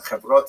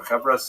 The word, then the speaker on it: Chevrot: The term Chevra is singular and Chevrot in plural, or Chevras in the Ashkenazi pronunciation, refers to associations from the word chaver, meaning friend or comrade, colleague.